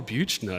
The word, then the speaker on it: Buechner: Or know who he is, or know that that's how his name is pronounced. But it's like, oh, Buechner, yeah.